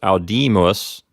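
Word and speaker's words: audimus: first person plural Adiemus it's a three syllable word so to figure out what syllable the accent goes on we look at the second syllable which is called the P note the P note here has a long I so it's al demas since the AI is a long I that syllable will get the accent if the I were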